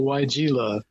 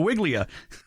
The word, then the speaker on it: Weigela: Well, we're talking about the Weigela, Weigela. That's the typical pronunciation, I guess. I guess in German it would be Weigela, but Weigela is what we call it.